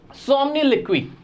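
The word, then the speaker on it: somniloquy: अब सोमनिलिक्वी, इसका मतलब क्या है सर? एक तो प्रोनाउंसिएशन बड़ा अजीब सा था इसका। हाँ भाई, यही प्रोनाउंसिएशन है, मैं गलत नहीं पढ़ रहा हूं, याद रखना आप भी।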